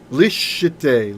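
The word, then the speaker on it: לִשְׁתֵּי: Lishetey. Lishetey, so that's a silent schwa now. Shetey was vocal, but now it's a closed syllable. So lishetey.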